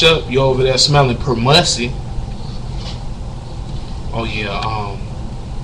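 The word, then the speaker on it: permussy: And then if you didn't even bother to wash up, you're over there smelling permissi. Oh yeah. Um, permussie. I mean tell you it's spelled P E R M U S S Y.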